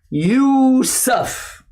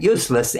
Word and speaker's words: Yusuf: channel my name is yusuf i want to be sure you get that right because some people still pronounce it useless anyway we got a